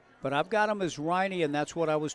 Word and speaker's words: Riney: But tension created by pronunciations or It is Riney, Mason Riney. I confirmed that with Larry Bumpus.